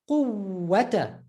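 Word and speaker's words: قوة: You see how we're just emphasizing the wow? You don't need to pronounce a different letter. You just need to hold it a bit.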